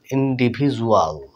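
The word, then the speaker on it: individual: এই ড তে এসে বর্গী জয়ে যাচ্ছে ইন্ডিভিজুয়াল ইন্ডিভিজুয়াল অন্তস্থি যত হুসু দিতে পারেন বর্গীয় জত দিতে পারেন একই উচ্চারণ প্রায় ইন্ডিভিজুয়াল মানে স্বতন্ত্র তাহলে দেখুন এখানে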